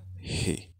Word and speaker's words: he: que significa él y se pronuncia G como empañando un espejo con h inglesa no con j el segundo habitante del